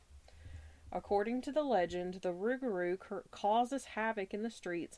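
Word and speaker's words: rougarou: this is because it was on Supernatural the rugaru the rugaru originating from Southern Louisiana the tale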